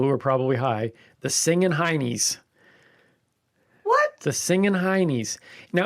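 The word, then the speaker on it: Singin' Hinnies: Now it's pronounced honeys in Northeast England, but nobody cares about the Northeast Englanders. But that's where it comes from? It comes from Britain, Okay. but the Northeast Englanders pronounce it as honey, but those people are always ruining the fun.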